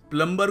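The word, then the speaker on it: plumber: करना है बाथरूम देखो प्लंबर नहीं है बी जो है ना साइलेंट है तो यह क्या बन गया प्लबर प्लबर तो याद रखिएगा प्लंबर को मत फोन करिए प्लमर को करिए देखिए अगला शब्द है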